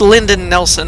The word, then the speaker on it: Lyndon Nelson: Oh, and by the way, I said the name wrong. It's Lyndon Nelson. I was seeing find and end. I thought end was a weird first name.